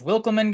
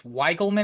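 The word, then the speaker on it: Wikelman: I thought this was Wilkelman Gonzalez. I heard it on the radio today. I believe it's Weigelman is how you pronounce his first name.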